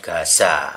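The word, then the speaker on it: עזה: Padahal huruf G itu dipakai di nama Gemurah dan Gaza. Jadi Gaza. Jadi di Palestina Gaza itu ini dia pakai ajin tapi bacanya G.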